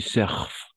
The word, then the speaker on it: surfes: D'accord, tu surfes. Surf, hasta la F solo. ES no se pronuncia.